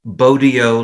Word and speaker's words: Bogyo: One trick is Bogyo like rodeo, which isn't 100% precise, but it's close enough and so much better than bozo that I'm happy to take it.